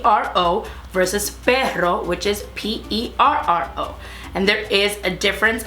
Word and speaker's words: perro: this and I think the easiest way is just to take two words for example that are spelled very similar except one of them has an extra R and it will be fatal to say but versus better to say dog so perro is PE ro versus